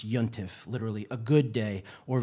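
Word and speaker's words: יום־טובֿ: to the tools could be any holy day pronounce yontiff literally a good day or verse or renaming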